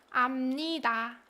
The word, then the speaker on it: 압니다: And it would be pronounced 압니다, right? 압니다, because, like I mentioned, of the consonant assimilation, right?